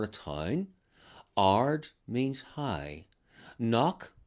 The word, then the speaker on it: Knock: Knock, sometimes pronounced crock, means a hill.